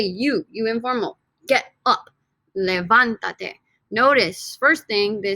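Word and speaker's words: levántate: syllable right from levanta levanta three syllables to levantate four syllables if i added an extra syllable an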